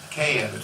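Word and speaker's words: Kedit: And do you pronounce it K-edit? K-edit.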